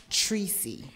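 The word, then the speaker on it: Tricey: at Tracy artificial that TR IC ey are official pronounced Tracy Tracy way that's the way and Jake mr.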